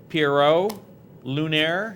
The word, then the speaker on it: Pierrot Lunaire: I'll pronounce his name Pierrot Lunaire.